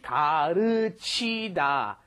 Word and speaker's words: 가르치다: You've got 가르치다. First of all, the L is right in between the R and L in English.